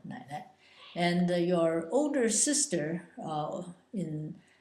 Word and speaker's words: 奶奶: You have the woman radical, and this gives you a hint at the pronunciation, and it's 奶奶, 奶, in the third tone, 奶奶.